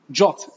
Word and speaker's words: JWT: verify all I do I call my JWT jot by the way it is pronounced as jots by call my job package